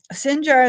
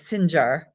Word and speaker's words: Sinjar: Sinjar is Arabic and Shingal is Kurdish.